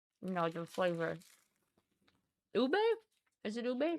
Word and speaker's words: ube: Ube.